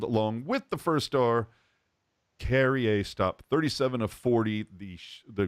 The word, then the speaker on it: Carrier: And it's Carrier. I'm doing the Canadian pronunciation. Carrier, like derriere, but with a C.